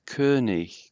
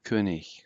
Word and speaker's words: König: That O umlaut is hard to pronounce. König, König, and the G is a little bit gutturalized slightly. König.